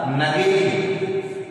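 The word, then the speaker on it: Nägeli: इसी कोशिका को आधार मानकर एक साइंटिस्ट ने, जिसका नाम था नगेली ने, ऐसे इसका नाम नेगली भी बोला जाता है, लेकिन यहाँ पे जो इसका प्रोनाउंसिएशन है वो नगेली ने शीर्षस्थ कोशिका सिद्धांत दी।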